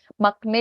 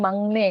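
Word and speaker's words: 막내: Jadi kayak misalnya makne dibacanya mangne kayak gitu.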